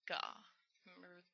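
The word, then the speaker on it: が: It's ga. Remember the Dakuten there. Ga. Remember the A? It's pronounced as in father. Ah. Ga. It's not like the A in cat.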